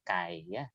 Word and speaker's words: chi: sevia yaitu itu yang x kuadrat itu bacanya akan kai kai Oh sesuai dengan Sigma